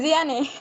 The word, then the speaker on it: Diane: Es Diane, por eso me quedé pensando. Diane, perdón. Bueno, ¿sabes qué? En tu nombre sí se pronuncia la E.